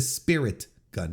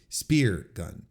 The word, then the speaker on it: Spirit Gun: I think I've been pronouncing it wrong. It's the spirit gun, not the spear gun.